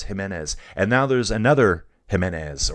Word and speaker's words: Giménez: I always want to say Jiménez. It's Giménez.